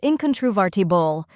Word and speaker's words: incontrovertible: let's break it down first we have in which sounds like the word in in inbox next is con which sounds like Con in constant then comes true which sounds like the true in truck after that VAR which rhymes with fur and is stressed finally TB where T sounds like tick and bull sounds like bulb now let's put it